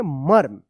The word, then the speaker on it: मर्म: यह जो रेफ की मात्रा है इस म के बाद यानी ये पहला वाला जो म है इसके बाद आधा र का उच्चारण होता है। क्या पढ़ेंगे? मर्म।